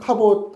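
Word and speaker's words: כבוד: 카옷 할 때이 보이시옷 발음이 디귿 발음인데 어쨌든이 갑옷이 어 무겁다라는 의미예요.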